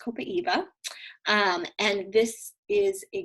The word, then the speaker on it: copaiba: one in but here's copaiba which actually is pronounced copaiba um and this is a great one to